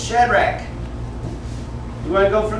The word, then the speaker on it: Shadrach: is shadrach it's actually the ch is pronounced like a k so it's shadrach you want to go